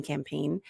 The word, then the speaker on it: campaign: letters are really important for example campaign the g is silent this is another one